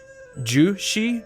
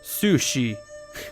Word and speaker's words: Su Shi: This entire time, I've been pronouncing our general and faction leader's name as Zhu Shi, but actually it's Su Shi, which is it's kind of hilarious when you think about it.